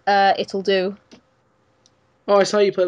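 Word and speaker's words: Ittle Dew: spelled spelled weird I guess it's supposed to be like do yeah like it'll do you know it's supposed to be like play on words or something but it's so good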